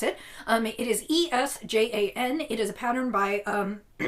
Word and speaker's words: Esjan: I don't know exactly how to pronounce it. It is Esjan.